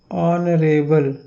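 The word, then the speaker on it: honourable: तो यहाँ पे इसका उच्चारण इस तरह से होता है, ऑनरेबल। आ से यहाँ पे इसका उच्चारण शुरू हो रहा है।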